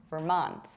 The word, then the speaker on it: Vermont: We pronounce it like Vermont with a stress on the second syllable, Vermont.